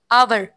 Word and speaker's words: hour: Teacher आवर। अवर। आवर। HOUR। इसमें कौन सा लेटर साइलेंट है? ये W। गलत। H। H है इसमें साइलेंट।